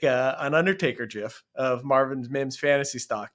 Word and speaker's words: GIF: you said there was the pronunciation of the word gif it is 100% a hard G it is absolutely a